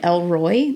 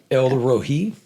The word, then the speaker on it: El Roi: that yesterday of like I always called it El Roy. That's what, but I'm from the country. So I guess that's the name that I always thought it was. How do you say it? El Rohi.